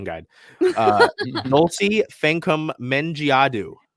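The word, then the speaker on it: Fankam Mendjiadeu: Southern Florida oh don't worry we got a pronunciation guide uh Nolte fancum mengiadu say with me Dulce can come like f-a-n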